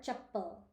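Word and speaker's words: चप्पल: realize that you know slippers in Hindi are Chaple there's no a sound at the end no e sound at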